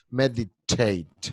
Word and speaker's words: meditate: La T en español es suave, meditar. En inglés es fuerte, meditar. Meditate.